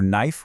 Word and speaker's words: knife: Have you ever wondered why we spell night with a K or knife with a K when we never actually make that sound?